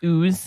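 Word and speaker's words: Uz: think but anyway um it's spelled U okay like o but it's oo but it's oo apparently um and there's no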